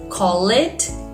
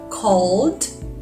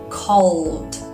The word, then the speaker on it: called: more time call it called learn it learned love it loved can you notice the difference exactly we don't pronounce the e in words that finish in e d one more time repeat